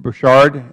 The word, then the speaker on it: Borchardt: Bouchard, is that correct pronunciation?